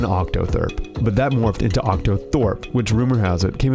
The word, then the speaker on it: octothorpe: there is no proper Doug calls it an OCTA thurp Lauren calls it an octotherp but octothorpe seems to have the most widespread use though its use